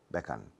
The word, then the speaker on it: Beckham: And they say David Beckham. Beckham. It's Beckham. But in English, you must close your mouth.